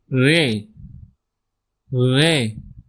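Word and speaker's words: ڑ: Following Ray, the next alphabet is re ray. It's a strong retroflex are re and over it a same sign of tika for retroflex sound.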